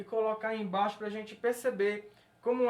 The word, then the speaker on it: embaixo: Quando a gente vai a palavra embaixo, a única sílaba tônica que a gente vê aqui é bai.